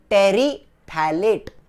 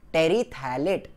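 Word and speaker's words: terephthalate: polyethylene, मेरे साथ साथ बोलना, पॉलीइथिलीन, टेरीथैलेट, टेरीथैलेट, वो पीएच है ना, वो साइलेंट है, पॉलीइथिलीन, टेरीथैलेट, पॉलीएस्टर, ये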